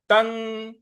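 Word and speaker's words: तं: तन। त के बाद जो अनुस्वार है त के ऊपर, उसका उच्चारण हमें न ले आना है क्योंकि उसके आगे त है।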